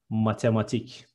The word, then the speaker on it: matematik: Next one, mathematics is matematik. All the syllables are short and we are reading it a bit fast. It is matematik.